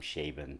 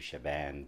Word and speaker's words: Shaban: to get it right who had everything from Schaben to Shaban to all kinds of things now it's I'm not